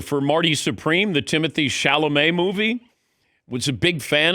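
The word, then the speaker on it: Chalamet: Dan, I swear I thought his name was Shalamett. I had never I had never heard it pronounced before. I had no idea it was Shalamé. And not Shalameé sounds so much better than Shalamett.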